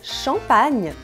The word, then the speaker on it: champagne: O GN tem som de NH, de nhê em francês. Por isso que a palavra champagne, em francês, se escreve assim, com GN.